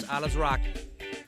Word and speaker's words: Alazraqui: as veteran showman Carlos alaz rocki my name correctly in Spanish is actually pronounced Carlos alasi but uh I grew